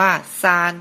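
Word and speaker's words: 三: ข้าง ล่าง สุด ครับ ภาษา จีน อ่าน ว่า ซาน แปล ว่า เลข 3 ครับ เลข ต่อ ไป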